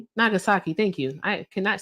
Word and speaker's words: Nagasaki: Nagasaki.